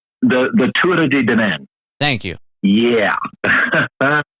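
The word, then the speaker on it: Tuatha Dé Danann: There is a name that comes up in your book, and I apologize if I mispronounce it, but it's the Tuatha de Danann. The Tuatha de Danann.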